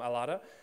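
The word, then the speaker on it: Ελλάδα: you say Greece in Greece in Greek um alada so we land in Greece with Paul where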